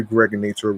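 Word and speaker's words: Gregnator: This is your man and homie aka the Greg Nator rhymes with now or later like the candy.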